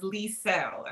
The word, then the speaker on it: Liesel: Ooh, but the correct way, it's okay, but the correct way to say my name is Liesel. And I always tell people like Lee, that's beautiful.